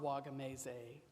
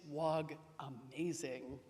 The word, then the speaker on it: Wagamese: And he corrected me, saying, it's not Wagamese, it's Wag-amazing.